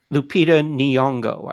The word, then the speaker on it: Lupita Nyong'o: Everybody forgive me, but if you don't know who she is, find out how to pronounce it because she's worth it. Lupita Nyong'o, I think.